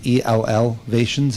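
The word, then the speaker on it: Ellevation: We're getting together, and we've bought some software called Elevations. It's ELLvations. It's kind of the way it's spelled.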